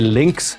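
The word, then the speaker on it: Lynx: is from double Alpha their links system it's got a number of links in the belt they spell it l y NX like the animal um but it's a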